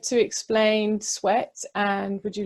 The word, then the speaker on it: S'WET: Yeah, so Sweat is, I tried to come up with like the acronym for SWET, because it's spelled S''WET, and it basically comes down to like structured water exercise training.